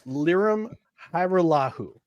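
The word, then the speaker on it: Lirim Hajrullahu: Well, if you want the correct pronunciation of the name, it's Liram Hajrullahu.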